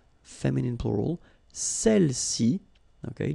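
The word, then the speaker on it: celles: all right feminine plural Cel okay don't pronounce the final s Cel s all right so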